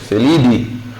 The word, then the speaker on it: Felidae: Mas não é latim, lembra que é latim? Então a gente não vai pronunciar o A. Então, por exemplo, felino, família de felinos, felidae.